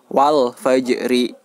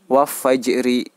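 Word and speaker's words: الفجر: "Al" harus dibaca sebagai "wal-fajri". Wal-fajri. Tidak bisa dibaca sebagai "waf-fajri". " Waf-fajri" tidak diperbolehkan. Mengapa? Karena fa merupakan salah satu huruf Izhar Qamariyah atau Al-Qamariyah. Jadi, "Al" harus dibaca dengan jelas.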